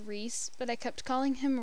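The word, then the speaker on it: Rhyse: would be nina's brother and his name was pronounced rhys but i kept calling him rice because it was spelled r-h-y-s-e and that's how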